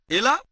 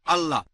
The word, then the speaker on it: Allah: একইভাবে আমরা জানি সঠিক উচ্চারণটা হচ্ছে আল্লাহ।